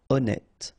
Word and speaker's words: honnête: So remember, H doesn't exist. Honnête.